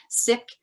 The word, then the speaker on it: Sikh: activist award-winning filmmaker lawyer seek some people say sick it's spelled s-i-k-h sick sikh faith leader and a